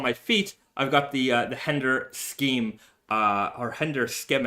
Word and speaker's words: Hender Scheme: I don't know how to say it exactly. All natural leather sneakers. Schema. Henda Schema. Enda. It's a silent H. All right, silent H. But at least in Japan we call it that.